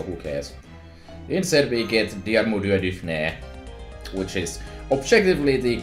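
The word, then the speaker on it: Diarmuid: not cold so who cares instead we get dear moody which is objectively the correct way to pronounce the name don't that's me no i'm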